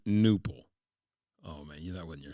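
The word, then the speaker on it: Knueppel: That's twisting my knipples. That they're not just not giving the K its proper silence, but that they're pronouncing UEPPEL, knipple, as opposed to newple.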